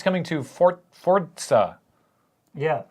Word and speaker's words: Forza: Anyway, it's coming to Forza, Yeah. or Forza, as everyone who isn't Italian or works at Microsoft pronounces it.